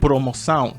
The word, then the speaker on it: promoção: The biggest challenge was using the aun. For example, you have promoción in Spanish, which means promotion. Now in Portuguese it said promoção.